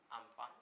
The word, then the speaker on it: Amphan: अम्फान cyclone, इसका pronunciation जो है वो है अम्फान साइक्लोन।